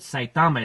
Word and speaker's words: Saitama: and poor poor Saitama I always pronounce it Saitama it's site to my accent accent is on the first syllable like that well no